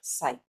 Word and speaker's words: psi: That is, if I am breaking down it further, so this vertical bar is pronounced as ket, and the Greek letter, this Greek letter is pronounced as psi.